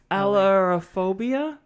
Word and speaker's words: ailurophobia: Ailurophobia. Oh, it's A-I-L. Yeah, how would you pronounce copy that?